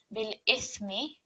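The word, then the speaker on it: بالإثم: So bil ithmi, tha is muted. On pausing, it will be bil ithm.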